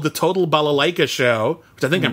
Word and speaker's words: balalaika: were in a concert movie called the total balalaika show I think I'm pronouncing right Ella like oh that's correct yeah